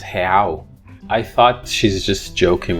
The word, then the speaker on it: real: And I just thought, yeah, it's a real. But then she said, no, it's pronounced real.